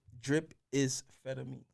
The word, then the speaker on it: Drippamphetamine: saying it wrong is drip methamine dripping fed at me dripping fed at but here's the easy way to say it drip is fetamy ah got you so